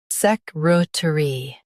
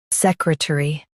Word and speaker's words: secretary: sec ruh t ree secretary sec ruh t ree secretary US says tur. UK says tuh. Emphasize sec and ruh.